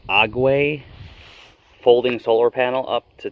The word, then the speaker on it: Aguei: going to hook this i believe it's pronounced ague folding solar panel up